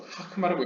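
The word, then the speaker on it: חכמה: 읽어질 때가 있는데 네, 원래는 이제 현대 히브리어나 이제 많은 히브리 학자들이 이걸 호크마라고 읽는데 이제 당시 동유럽 이 옛날 시대에는 약간 혹은 동유럽 쪽에 약간 유대 랍비들 중에는 이제 그냥 아로 읽는 경우가 있나 봅니다. 그래서 하크마라고 읽는데 여러분들 호크마라고 알고 계시면 됩니다. 네. 문법적 호크마가 맞다고 보시면 되고요.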